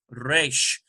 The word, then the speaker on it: Resh: Resh does have a little bit of a trill, you'll notice, in the pronunciation. Resh, sort of like that.